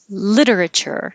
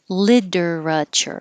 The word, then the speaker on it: literature: You can say this with 3 syllables. Literature. Well, that's 4 syllables, sorry. 1, 2, 3, 4. Literature, literature. Or you can make it 3 syllables and say literature, literature. Both are fine.